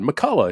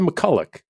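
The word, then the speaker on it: MacCulloch: whoa wait I said Todd did you say McCulloch or McCullough he goes I said McCulloch and I go wait we've always said your name McCullough he goes yeah well kind of the men in the family say McCulloch and and and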